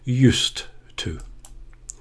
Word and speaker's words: used to: a t a strong T at the end used to when I was a young man I used